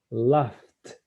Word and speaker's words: laugh: En GH se pronuncia como una F, ¿o no? Sí, es una F. Entonces es laugh.